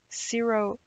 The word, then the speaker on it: Syrophoenician: Syrophoenician is how you pronounce that, a despised Gentile.